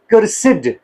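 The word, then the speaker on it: cursed: इसकी प्रोनंसिएशन क्या है? क्या हम इसको कर्स पढ़ते हैं? मोस्ट इसको कर्स पढ़ते हैं। कर्स लेकिन एक सेंस में इसका जो है एक इसकी प्रोनंसिएशन जो है वो कर्ड भी है। कर्सिड भी है।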